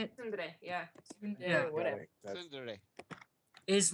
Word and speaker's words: Tsundere: And that's the basis of the ship, is that she's being all what is it, Sundre? Is that how you say it? Today, yeah. Yeah. Whatever. Tsundere.